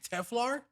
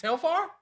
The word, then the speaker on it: Telfar: as my dj bag isn't it teflar i'm correct it's tail farm shout out to you